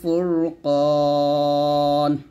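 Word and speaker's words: فرقان: এটা একটু সতর্ক থাকবেন কফ যেন কাফ না হয়ে যায় একসাথে এখানে যেহেতু পাস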